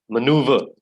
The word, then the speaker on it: maneuver: the next one please maneuver that's how we pronounce this word what is the meaning